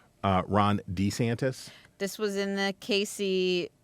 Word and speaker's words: DeSantis: who I did not know pronounce his name pronounces his name uh Ron D santis this was in the Casey um we're going